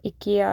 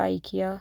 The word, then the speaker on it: IKEA: तो इकिया आइकिया सबके अपने अपनी प्रोनाउंसिएशन होती है।